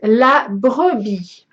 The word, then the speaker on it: La Brebis: Finally, this is one name I can pronounce, because look, French name. Okay, so that is la brebis.